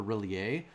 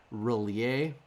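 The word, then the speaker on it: R'lyeh: l y e h most people pronounce it relie but uh in the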